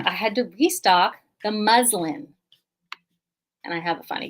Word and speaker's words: muslin: had to restock the muslin and i have a funny caption muslin the muslin fabric ends with an n the letter n is muslin muslin is the fabric muslim are adherents of